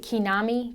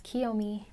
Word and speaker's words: Kiyomi: or interviews and they're like what is it Konami and I'm just like it's Kiyomi like ki yo like I'm just I